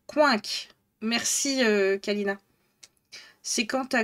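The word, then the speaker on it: Quincke: Ça se prononce coinc.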